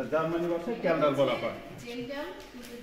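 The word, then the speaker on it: Kjeldahl: ভাষায় ক্যালডাল বলা হয় জেলডাল কিন্তু জার্মানি উচ্চারণটা করে কেল্লডাল কে জে কে ঠিক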